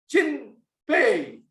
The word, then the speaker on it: Chin Pei: by the fact that my name was pronounced as Chin and Pei, like as in paying money.